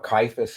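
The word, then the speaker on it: Caiaphas: Jesus before Kyifus in the council. That's how it's said.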